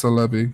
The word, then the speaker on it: Celebi: Celebi Celebi ya know I'm how you pronounce it or what no it's Celebi because in Japanese it said he'd be so